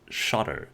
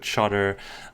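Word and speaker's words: Shottr: app that I cannot live without is called shter so it is a screenshot app it's spelled s h o TTR um the the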